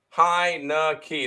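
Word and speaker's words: Heinicke: a fave fade the dead skins that's fair hi no key that's how you pronounce his name heinecke there you go um Boise State plus two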